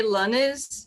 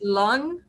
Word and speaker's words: Lannes: to say my name in brazil we say lonnie's in french apparently it's long okay but i'm not